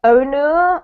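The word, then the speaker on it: Onur: quickly hello to uh onor onor hello hello welcome how do I pronounce your name uh it's on but you can pronounce anyway you want thank you on okay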